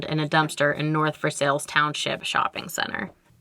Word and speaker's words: Versailles: a dumpster in north versailles township shopping center which shares its name with the french city versailles but in pittsburgh ease we pronounce it versailles it was placed